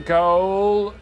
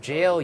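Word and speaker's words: gaol: The Viaduct Tavern goal. It's jail, you idiot. Jail? Who spells it that way? That's how they used to spell it back in Old English times.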